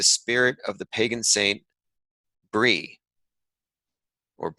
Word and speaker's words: Brigid: of the pagan Saint Bree or it's spelled Brigid or pronounced Bree in order to bring